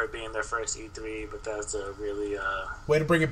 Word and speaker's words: Bethesda: This is the first time that Bethesda, yes, I said it right, Bethesda has done an E3 conference, unto itself.